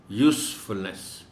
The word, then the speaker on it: usefulness: As noun it is pronounced as use, and as verb it is pronounced as use. So here it is being used as a noun, so it will be useful, usefulness.